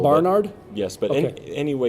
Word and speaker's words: Barnard: I accent the first syllable. Barnard?